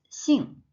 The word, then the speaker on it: 姓: It's 姓. So the initial of this word is 西. In English, it's X. However, in Chinese, the pronunciation is different.